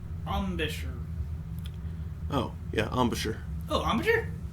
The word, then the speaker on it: embouchure: Steve says it's pronounced Ambish or Ambisher.